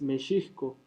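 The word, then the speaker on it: Mexihco: como meco es difícil la pronunciación correcta sabemos ya de antemano que es meiso y la grafía correcta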